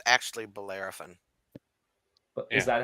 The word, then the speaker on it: Bellerophon: that uses venomous spines for defense it's actually bellerophon is that how you pronounce it yeah hilarious you got it so